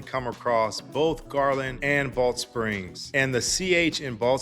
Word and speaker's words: Balch Springs: across both Garland and Rowlett Springs. And the CH in Rowlett Springs is silent, by the way. So, you kind of have to roll the two words together.